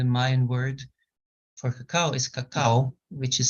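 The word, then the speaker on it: kakaw: ceremonial cacao is there's two parts to it.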